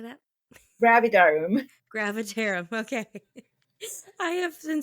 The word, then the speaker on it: Gravidarum: Gravidarum. Gravidarum. Okay. I have been spending pretty much forever trying to figure out the pronunciation, and I think I already forgot it,